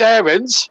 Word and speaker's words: Aarons: Max Aarons, to give him his proper pronunciation. Well, I'll try and say Aarons, but it's very hard to kick an habit of a lifetime.